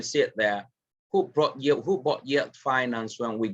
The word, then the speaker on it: Yel Finance: It's called Yale Finance. I remember that Yale Finance is spelled Y-E-L and then finance.